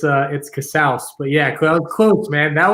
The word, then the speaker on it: Casaus: Is that the way to pronounce it? It's Casaus, but yeah, close, man.